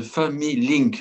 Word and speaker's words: Familink: Alexis Le Goff, je rappelle que vous êtes cofondateur de Family Link. Là, je prononce Oui, correctement.